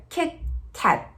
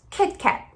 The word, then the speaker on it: Kit Kat: Mas quando pronunciarmos o som do T, especialmente no American English, normalmente o T ele é silencioso. Ele fica Kit Kat, Kit Kat.